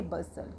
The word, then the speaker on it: bustle: BUSTLE, इसको हम बस्टल नहीं बोलेंगे, इसको हम बोलेंगे बसल, क्योंकि हमने बताया था कि अगर किसी वर्ड में हम STLE, STEN या FTEN का कॉम्बिनेशन देखते हैं या हमारे टी लेटर से पहले S होता है तो भी हमारा टी लेटर साइलेंट होता है।